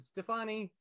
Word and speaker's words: Stefani: uh John told me I was saying her name wrong the other day is is it Stefani yeah Gwen Stefani Stan left a message that